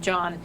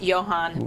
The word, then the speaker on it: Johann: I called him John, and it's Johann Boswinkel. And I apologize.